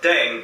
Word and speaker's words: 땡: The pronunciation of Deng is similar to thang, which is the slang of thing in English.